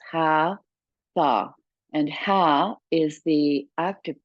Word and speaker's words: Hatha: haa yoga are uh from the two syllables ha tha and ha is the